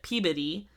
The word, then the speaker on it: Peabody: So not in Salem, but according to the locals, it's spelled Peabody, but the town next to it, they pronounce it Peabody.